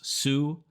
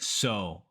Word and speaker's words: sew: once you know it it's not pronounced Sue but so so he taught me